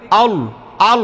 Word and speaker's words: আল্লাহ: বলেন না শোনেন শোনেন আপনারটা হচ্ছে আল্লাহ আল্লাহ এরকম হয় প্রথম থেকেই মোটা আল আল বলেন না না আল হয় কেন আল আল এই এখন হইছে